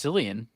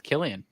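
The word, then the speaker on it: Cillian: I would have thought kilan or chillian it's Killian I thought this like a silent h I think it's Killian Murphy Maybe I'm Wrong I think that's where I've I've heard I don't think it's selan it's Killian uh female movie star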